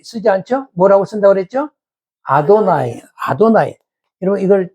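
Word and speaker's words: אֲדֹנָי: 아도나이 아도나이 여러분 이걸 때 이렇게 안 읽고 아도 나이라고 읽다.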